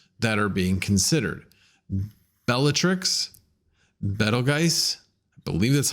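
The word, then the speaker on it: Betelgeuse: are being considered bellatrix better guys i believe that's how you pronounce it it's not beetlejuice it's better guys it's german uh botean uh brachium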